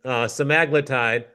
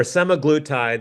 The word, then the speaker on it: semaglutide: So the FDA approved Wegovy, semaglutide or semaglutide. They've pronounced it both ways.